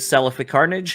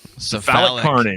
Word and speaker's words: Cephalic Carnage: Have a comment from Human Falafel on episode 217 with Celiphic Carnage. Am I saying that correctly? Cephalic Carnage.